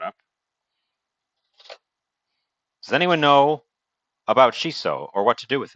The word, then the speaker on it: shiso: goldie uh welcome in not chiso peppers uh shiso the herb uh it is spelled